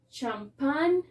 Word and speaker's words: champagne: y nos dice que la letra g es muda cuando está seguida de una n ya que si después